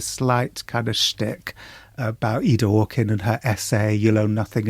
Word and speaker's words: Ida Orkin: Is that how you pronounce her name? Yeah, Ida Orkin.